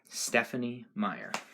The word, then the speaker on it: Stephenie Meyer: all right chapter six of twilight by um stephanie meyer finally pronouncing the name right as i sat in